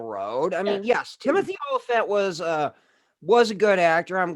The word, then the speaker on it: Olyphant: Timothy Ophelia. I think that's how you pronounce his last name. Timothy Olyphant.